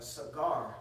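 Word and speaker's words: סגר: I think in the Hebrew, the word there is a cigar, not like cigar which you smoke, but you know what I'm saying. That's how you pronounce the word in the Hebrew. Sa and gar, okay, and it means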